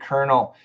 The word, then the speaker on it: colonel: English is because of the word colonel with has which has an R I know it's crazy